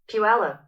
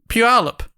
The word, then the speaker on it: Puyallup: Oh, I've got a pronunciation Here we go. from the Google. Puyallup. Puyallup.